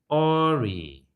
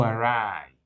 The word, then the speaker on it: awry: Oh, this is interesting, especially because many people pronounce it Ori. When things go awry, take note, please. When things go awry, blah, blah, blah. That is when things go wrong. So that word is not Ori, but awry, to go wrong.